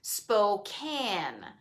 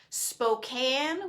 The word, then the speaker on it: Spokane: is check it out i learned how to pronounce it correctly spokane spokane washington right over here and the reason i'm